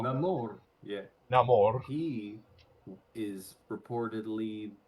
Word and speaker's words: Namor: you have to Yeah, do the rolling of the R's now. Namor.